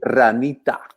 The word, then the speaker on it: Ranita: Ranita.